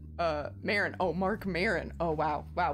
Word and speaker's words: Maron: good deal guess you should be flattered mark maroon uh maren oh mark maron oh wow wow butchered that uh a comic host the for